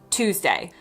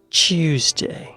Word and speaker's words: Tuesday: Finally, let's talk about something called yoddropping, which is when speakers ditch a Y sound after certain consonants. For example, the word Tuesday in American accents. In my accent is just Tuesday. Tuesday. And tune is tune.